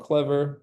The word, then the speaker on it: Clevyr: But yeah, I've been doing this, I work at this company called Clever, we're local, it's spelled Clevyr.